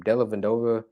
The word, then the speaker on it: Dellavedova: Is it Dellavedova or I forget how to pronounce his name. Dellavedova.